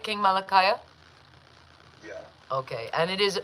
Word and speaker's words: Kingmalakiyah: Kingmalakiyah?